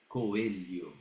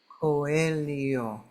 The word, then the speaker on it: Coelho: pronouncing it incorrectly right coio coio perfect where where are you from originally I'm from Brazil so that is a Brazilian uh pronunciation yeah um so it's coio right okay I I've